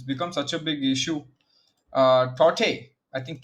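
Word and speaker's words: Tauktae: Tote, I think K is silent, so it's Tote, as someone told me yesterday in the chat.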